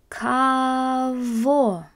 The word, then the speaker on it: кого: Для кого? Для сына моего. Notice that those G's are actually getting pronounced as a V sound.